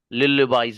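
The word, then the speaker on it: lullaby: इसके कई प्रोनंसिएशन है। अलग-अलग अंग्रेजों के यहां भी कई हैं इसके। तो लाला बाई भी प्रोनाउंसिएशन है लेकिन इसके एल के साथ ल्यू यह वाला साउंड ज्यादा निकालते हैं। लुल बॉयज इस तरह हम थैंक यू सर।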